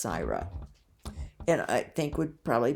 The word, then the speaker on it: Syra: was Sarah or Syra probably pronounced CRA s y r a sometimes known as sire but mostly referred to as CRA and I think would